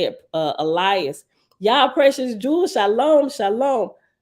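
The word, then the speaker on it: Illaes: words in the book it's spelled i-l-l-a-e-s so it's Elias thank you nazarena scene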